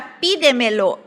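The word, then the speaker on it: pídemelo: também e a palavra pe de Melo é uma palavra sobre as Drácula olha como ela tem 4 sílabas e a quarta é a tônica o lo é a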